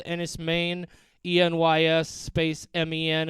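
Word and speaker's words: Enys Men: movie on Hulu called Ennis Maine, ENYS space MEN. It looks like men. It's pronounced Maine.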